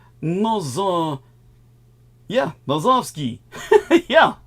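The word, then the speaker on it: Nosovskij: in the Slavic language J is pronounced as a y in the Slavic language so it' be more like no yeah noski yeah like I said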